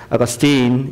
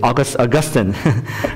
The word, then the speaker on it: Augustine: Saint Augustine, do you pronounce his name Augustine or Augustine? You know, it depends on where you're from. If you're from the south, you call him Augustine. If you're from the northeast, say Augustine, right?